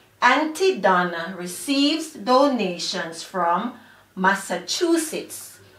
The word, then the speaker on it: Massachusetts: Again, Auntie Donna receives donations from Massachusetts. So the word Massachusetts has four syllables. Mass-sa-chu-sits.